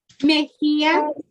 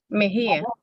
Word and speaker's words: Mejía: Mejía. Señora, pronuncie su nombre de nuevo. Mejía.